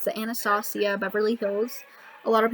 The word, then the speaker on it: Anastasia: things I actually just got this it's the anastacio Beverly throws a lot of people pronounce Anastasia but I did find out that's actually pronounced